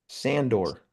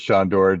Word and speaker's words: Sandor: Sandor. It's not Sandor? I thought it was Shondor. Shondor. I don't Sandor see any Clegane. SH in there. It is Shandor, just spelled like Sandor.